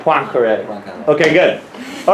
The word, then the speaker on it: Poincaré: Can I get a French expert to calibrate my Poincaré pronunciation? Poincaré. Poincaré. Point. Like with a W. Like Poincaré.